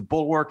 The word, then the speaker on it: Bulwark: people, it's funny, like people think it's Bulwark. Well, hopefully it's not bull. It certainly is work. But the Bulwark, for those who don't know, is spelled B-U-L-W-A-R-K. So one L and an A instead of an O, and it's all one word, the Bulwark.